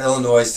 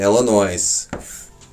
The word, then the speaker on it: Illinois: new new state the s is silent remember that kids the in illinois is silent okay but